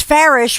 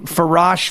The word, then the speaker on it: Farish: I was like, it's Farish, rhymes with parish.